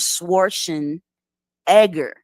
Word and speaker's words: Schwarzenegger: he was asked about his name Arnold Schwarzenegger and he say no no no no that's not how you pronounce it it's pronounced Arnold schwarzen Edgar specifically now he could